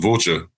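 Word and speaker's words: Vâlcea: currently um playing for is it It's pronounced Voltur.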